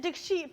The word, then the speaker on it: Dikshit: it's not. It's Dick Sheet.